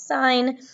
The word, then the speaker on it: sin: math problems as siin we don't pronounce it sin we're still pronouncing it as sign but we're always going